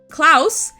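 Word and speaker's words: Klaus: Klouse is a bear who has sharp claws. Klouse and claws are supposed to sound similar to one another.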